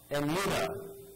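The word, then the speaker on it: Emunah: Emuna and Emet.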